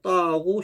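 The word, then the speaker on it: ط: 요 타보다 둔탁한 소리입니다. 두껍고 둔탁한 소리, 무거운 소리. 이것도 혀가 밑으로 쫙 깔리면서 나는 소리죠. 떠. 이것도 눈을 좀 크게 뜨면 의식적으로 혀가 좀 내려갑니다.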